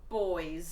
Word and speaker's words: buoy: Okay, so in the water, in the sea, you get buoys. Yeah, spelled B-U-O-Y. Yeah. That's a boy. You guys call it buoy.